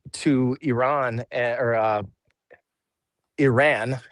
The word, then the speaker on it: Iran: Well, why why the hell did we give, you know, $150 billion dollars to Iran and or uh Iran is the correct way to say it.